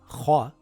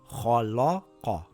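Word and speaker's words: خَلَقَ: Now a common mistake people usually do in this word is to pronounce the lam heavy. So they will say KhaLaQa.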